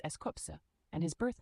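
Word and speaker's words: S.Coups: Starting with Eskuz, as he is the leader of 17, and he is the leader of the hip hop unit, pronounced as Eskopse, and his birth name is Chesing.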